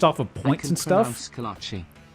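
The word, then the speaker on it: kolache: Kolachi. He did pronounce it right. At least the Texas way of saying Kolachi.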